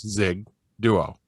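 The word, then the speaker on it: Xigduo: Like even at the pharmacy and stuff, they're always they try and fancy up the name, and I'm like, no, it's just like it sounds, Zig Duo.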